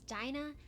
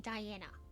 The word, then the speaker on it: Dinah: I do know that Diana Lance is pronounced as Dinah. I was very tipsy, so I kept saying Diana.